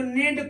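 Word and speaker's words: knee: ई ए डी इसको नेड पढ़ते हैं नेड नहीं पढ़ते हैं के साइलेंट होता है ऐसे ही के एन डल ई इसको नी पढ़ते हैं कनी नहीं पढ़ते हैं के साइलेंट होता है ऐसे ही के एन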